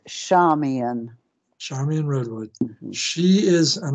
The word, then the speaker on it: Charmian: our tonight's guest is Charmin uh Charmin Redwood is it pronounced like an S Charming yes it's shamian Charmaine Redwood she is